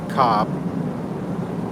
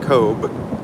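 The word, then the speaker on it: Cobh: We were in town today, Cobb, or Cobe, depending on how you pronounce it.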